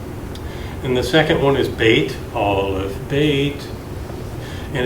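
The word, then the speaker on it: בית: it again B or D no that's th bait okay yes all this bait and so if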